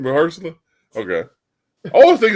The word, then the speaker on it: Mahershala: That's how you say his name, Mahershala.